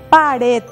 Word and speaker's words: pared: La siguiente palabra, pared. ¿Dónde se carga la voz? En red.